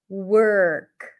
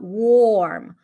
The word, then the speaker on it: work: that's the stir sound it sounds like you're going from the W to the r directly work worm right it's not warm warm oh and warm let's